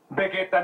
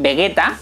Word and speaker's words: Vegeta: igual que los japoneses es curioso que cuando dicen vegeta dicen vegueta y para referirse al planeta está diciendo bellita que es exactamente pero exactamente como lo pronunció en japonés tanto el planeta como